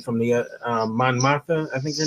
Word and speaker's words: Mon Mothma: the what was the character's name from the Mon Mothma? I think her name. How do you say her name? Yes, Mon Mothma.